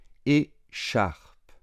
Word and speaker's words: écharpe: Écharpe, écharpe. Attention, on ne prononce pas le E final.